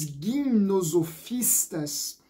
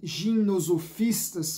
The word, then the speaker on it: gimnosofistas: Os gimnosofistas, ou os gimnosofistas, para usarmos uma pronúncia mais aportuguesada, são os chamados, ou eram os chamados, filósofos nus.